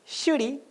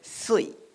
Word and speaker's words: Shuri: Shuri es el nombre en japonés, pero en Okinawa no le van a decir shuri, sino le van a decir sui.